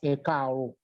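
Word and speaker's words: Ẹ káàárọ̀: you say good morning, in Yoruba it is pronounced as ekaro.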